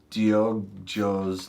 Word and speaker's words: Diogo: And I think it's instead of go, it's Joe.